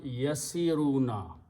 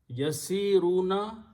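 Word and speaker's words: يسيرون: So this will be pronounced yasiruna. Yasiruna, just like yaf'aluna, meaning will be they are traveling, or they travel, or they will travel.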